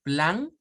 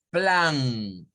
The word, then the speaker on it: plan: Plan para un plan. Vea, ojo, ponle atención, en esta se nota mucho la diferencia. Vea, en español decimos plan, pero en inglés es plan, plan.